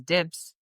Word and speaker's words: DIBS: We pronounce it as DIBS because it's basically DIBS.